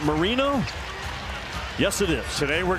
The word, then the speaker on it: Marino: It's Marino, not Moreno. Okay. He didn't know himself. He then came back and said, wait, our last name's pronounced Marino?